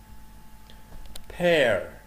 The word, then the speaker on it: pear: peach, pear, pear, مش بير, pear, pineapple, pineapple, plums, plums,